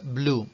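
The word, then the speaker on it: blew: y se está perdiendo Entonces lo normal es que se escuche Blue Sí igual que el color Blue lo mismo les va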